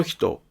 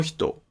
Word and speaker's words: ひと: In the case of "kono hito," "sono hito," and "ano hito", the pitch of "hito" is lowered.